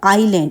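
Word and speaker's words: island: Tamil family in द आइलैंड अब देखिए यहां पे आई एस लिखा है लेकिन यहां पर एस जो है वो साइलेंट है आई एस एल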